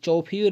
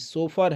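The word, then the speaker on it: chauffeur: Guys इसका pronunciation देख लीजिएगा, इस चौफीर नहीं है गाइज, सोफर है।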